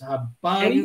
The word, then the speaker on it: Habari: You pronounce it exactly. So it's Habari.